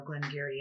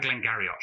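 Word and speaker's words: Glen Garioch: malt and you know glenn gary and for those of you who are thinking i've never seen glam gary before it's spelt g-a-r-i-o-c-h so yes you may have had glenn garriott before yeah or glenn garrick i also get that too yeah so that is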